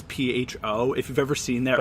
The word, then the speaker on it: pho: is a Vietnamese noodle soup dish and it's pho if you've ever seen their oh if you've ever seen it written on like a restaurant or a menu it's pronounced fun not like pehoe because I've heard people say yeah yeah yeah